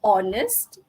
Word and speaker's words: honest: Okay, and then we also have silent H. Sama juga, it's quite sad to have students in semester 1, semester 2 and even semester 3 to pronounce honest, power. Okay, it's honest, hour, scheme of work, school and archive.